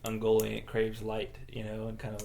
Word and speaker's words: Ungoliant: Ungoliant helps him plot. Light will be no more. Mm-hmm. Did I say Ungoliant right?